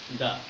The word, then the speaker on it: the: তাহলে উচ্চারণ হবে কি দা, আর যদি ভাওয়েলের আগে শব্দটি বসে তাহলে উচ্চারণ হবে কি দি। তাহলে বিষয়টা কি দাঁড়ালো যে কনসোনেন্টের আগে উচ্চারণ হবে দা আর ভাওয়েলের আগে উচ্চারণ হবে দি।